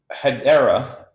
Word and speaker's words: Hedera: So Hedera, if I got the pronunciation right.